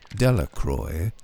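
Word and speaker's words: Delacroix: and Harry Jones and Dicky dequa the villagers pronounced this name delacroy eventually made a great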